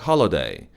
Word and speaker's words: holiday: 그리고 마지막으로 holiday, holiday, 홀리데이가 아니에요. working holiday는 한국식 발음이고 holiday, working holiday 이렇게 발음하는 게 맞습니다.